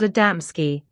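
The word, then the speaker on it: Adamski: well known to us but you mispronounce them the first is called adamsky the second genoves and the third molik these are not names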